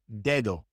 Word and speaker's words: dedo: When the D comes at the beginning of a word, it's pronounced like the D in English, d, d. Like in the name David, David. That's David in Spanish, David. Or in the word dedo. Dedo means finger, dedo. That D at the beginning is pronounced like the D in English, David, dedo.